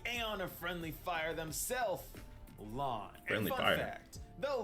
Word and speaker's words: Lan: of friendly fire himself, lawn. Fun fact, though lawn means mist in Chinese, it is pronounced the exact same way as the word blue.